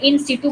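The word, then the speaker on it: in situ: इन सीटू water harvesting, इसको वैसे इन सीटू बोल देते हैं, इसका जो सही प्रोनाउंसिएशन है वो इन सीटू है ना, इन सीटू वाटर हार्वेस्टिंग।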